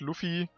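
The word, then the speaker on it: Luffy: so ganz sicher ist weil Japaner haben kein l ne also es ich denke mal es wird Luffi soll es heißen aber ja ruffy ist halt jetzt englisch ausgesprochen also da steht wortwörtlich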